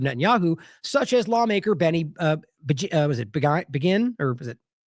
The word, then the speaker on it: Begin: It was also a longtime Likudniks from the Likud party from Netanyahu, such as lawmaker Benny, Begin, or was it Benign? How do you say that again? Begin.